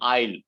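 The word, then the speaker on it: aisle: the two words okay pronunciation exactly the same i'll for both different spelling and different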